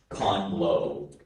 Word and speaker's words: conglobe: Your word is conglobe.